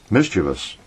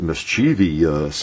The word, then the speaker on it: mischievous: a grammar lesson but another word like that that people Mis pronounce quite often is uh mischievous you know and uh they get mischievious us out of that and there's no there's no viio u in that word it's just v u mischevous mischevous you